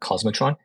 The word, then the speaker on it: k0smotron: out called cos Metron it's spelled kzer matron but we call it cosmotron and utilizing cluster API